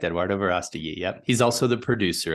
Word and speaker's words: Eduardo Verástegui: played by the well-known Mexican actor and producer Eduardo Verástegui. Is that the correct pronunciation? That's correct, Eduardo Verástegui.